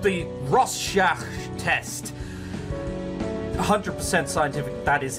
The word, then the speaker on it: Rorschach: make sure you're okay this is called the Rorschach test 100% scientific that is how you pronounce that I will show you an image